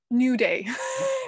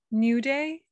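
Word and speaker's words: Naivedye: harder one is yeah new day which is nothing like how it's spelled dave's asking about the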